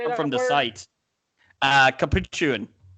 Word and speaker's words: capuchin: Capuchin. I'm not sure why you're adding an extra syllable.